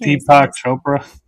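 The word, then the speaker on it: Deepak Chopra: I can't Deepo Chopra.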